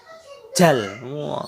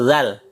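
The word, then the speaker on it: ذال: Kalau dibaca dengan tulisan bahasa Indonesia biasanya jal. Salah itu ya. Penulisan dengan pelafalan itu akan berbeda karena kita belajar huruf hijaiyah seharusnya menggunakan tulisan Arab, yaitu zal. Zal. Bukan jal ya.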